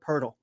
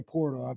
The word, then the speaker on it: Poeltl: I legitimately skipped that one because I get his name wrong every time. I was talking about the Toronto guy. Yeah. Jakob Poeltl. Thank you. I was gonna say Portal, but it's Jakob.